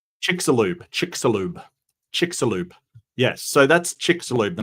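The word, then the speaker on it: Chicxulub: yeah yeah yeah give me give me the pronunciation chickaloo chickalo chickaloo yes so that's chickalo the massive meteor that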